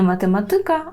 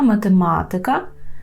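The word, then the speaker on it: matematyka: також відноситься слово математика так маємо ика не математика а математика фізика гімнастика так і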